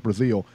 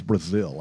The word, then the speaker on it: Breazeale: So now he finally gets his mandatory, and his mandatory is against Dominic Breazeale. I think it's Brazil. I think they pronounce it Brazil, but either way, that's who his mandatory is against.